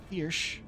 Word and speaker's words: Thirsk: Thirsk would be Thirsch.